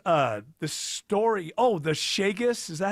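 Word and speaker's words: Chagas: Oh, the sheaggus. Is that how you say it? Shaggus.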